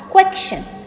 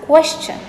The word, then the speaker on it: question: Some people pronounce this strangely as question. I'm really not sure where this K sound is coming from, but it is wrong. It should be pronounced as question.